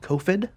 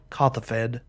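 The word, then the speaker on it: Kothophed: We'll play a Guild Gate, and we'll minus on Kofed, and continue to pass. This is the very definition of draw go here. I think I pronounced his name wrong. It's Kothafed.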